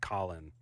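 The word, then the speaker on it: Khalen: K H A Len, but I feel like he pronounced it Colin on the show.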